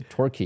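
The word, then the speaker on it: Torquay: I remember there's a there's a town called turkey okay uh which is a turkey yeah um I hope the British don't mind if my pronunciation is wrong but it's called turkey okay uh but you didn't call it turkeys that's okay though it's turkey you know um turkey I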